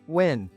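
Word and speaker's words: Nguyen: "It's pronounced win."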